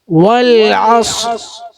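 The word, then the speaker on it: والعصر: ഓഫ് ഓഫസ് ഓഫ് ഓഫ് അസ് അല്ല അസ് എന്ന് പറയുമ്പോൾ നാവ് പരന്നു കിടക്കുകയാണ്. ഓഫസ് കനപ്പിച്ചു പറയാ ചുണ്ടൊന്നും ചെയ്യേണ്ടതില്ല. ചുണ്ട് കുറിപ്പിക്കണോ വേണ്ട അസ് വൽ അസ് വൽ അസ് എന്നാൽ അന് കനപ്പിക്കേണ്ട അക്ഷരാണോ അല്ല അന് നേർപ്പിച്ച് ഉച്ചരിക്കേണ്ട അക്ഷരാണ് അസ് എന്ന് പറയരുത് അല്ല നേർപ്പിച്ച് ഉച്ചരിക്കാം എന്നാൽ സ്വാദിനെ കനപ്പിച്ച് ഉച്ചരിക്കാം വൽആസ് വൽആസ് ഇന്നൽ ഇൻസലഫ അവിടെ നമ്മൾ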